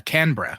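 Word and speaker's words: Canberra: I I know like uh canra you don't you don't bother with the e in for some reason at least Le some of you don't um k n b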